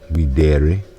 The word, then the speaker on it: videre: Say video or videre. That accent mark drags the accent back to the E. Latin is pronounced a lot like Italian, by the way, no surprise, which is why the E sounds like A, particularly to the American ear.